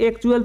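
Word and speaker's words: actual: हैं तो क्या होगा इसे हम क्या पढ़ेंगे इसे एक्चुअल पढ़ेंगे एक्चुअल जिसका हिंदी मतलब होता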